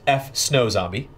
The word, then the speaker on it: F Snow Zombie: showcase is that one usually struggle with my name it's pronounced F snow zombie it just tell me